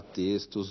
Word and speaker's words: textos: Na palavra textos, o X se pronuncia como S.